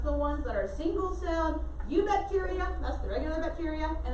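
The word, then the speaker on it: Eubacteria: their kingdom name it's you bacteria the e is silent so i'm sorry spell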